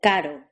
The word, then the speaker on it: caro: R, the R trill, as in carro, and D, the R tap, as in caro.